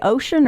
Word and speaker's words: Oshun: The internet has multiple ways of pronouncing her name. Do you say ocean or oshune?